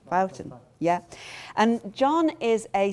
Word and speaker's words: Boughton: to speak and to my right is John if I it is Bouton amazing because there's so many ways of pronouncing names Bouton yeah and John is a social historian and